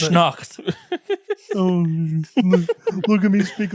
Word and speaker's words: Krampusnacht: Did you say Krampus snot? That's what it's called. On Krampusnacht or Krampus night. You need to pronounce the T, or it sounds like Krampus snot. How would you pronounce it? Krampusnacht.